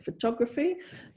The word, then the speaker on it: photography: of morphemes so for the word photo the um the stress is on the first syllable two syllables but then when you add extra morphemes to make it photography now a four-syllable word um and the the stress has shifted to the second syllable so photography and then